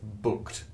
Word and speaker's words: BookD: to books that's right that's how you say it booked ignore the Big D on the end it's just sort of